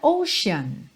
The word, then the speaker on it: ocean: bastante nessa música são palavras com a letra t ou C que na verdade vão ter som de X Então logo nesse primeiro slide Aqui você vê a palavra motion e a palavra para Ocean então repara que tem